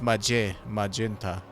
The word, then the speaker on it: magenta: It would be a soft G, I think, if they would pronounce it. Well, it's magenta.